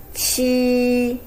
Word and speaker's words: q: similar position for pronunciation you say chi pronounced similar to english word cheese chi next one almost